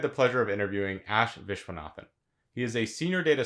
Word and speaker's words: Viswanathan: as we just mentioned your last name is pronounced i believe vishwanathan that's right you had mentioned to